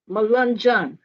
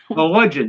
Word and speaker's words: Melungeon: Gigi, I would like you to tell me the title of your book because I'm sure I'm going to mispronounce Thomas the Melungeon. Melungeon. Melungeon.